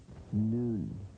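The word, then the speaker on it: נון: a word right right right unlike English no noon noon look at no look at it shape pronunciation noon noon noon sure you have it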